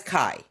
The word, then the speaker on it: CAIE: Well, that changed when Calamos launched its auto callable income ETF, ticker CAIE, which Calamos pronounces as KAI. KAI trades on the New